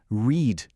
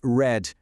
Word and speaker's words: read: No presente, a pronúncia é read, com o som de i longo. Já no passado, a gente pronuncia red, igualzinho à cor vermelha em inglês.